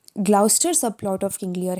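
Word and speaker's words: Gloucester: वो ये है कि ग्लाउचेस्टर, आई एम सो सॉरी, मैं ग्लाउचेस्टर बोलती हूँ कि that is हाउ I remembered, otherwise इसे ग्लाउस्टर कहते हैं, तो ग्लाउस्टर इज़ द प्रोनाउंसिएशन।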